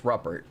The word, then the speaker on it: Ruppert: Yeah, although I've seen some people pronounce it Rupert, but fuck that. I don't think that's right. If it was Rupert, it would just be one P.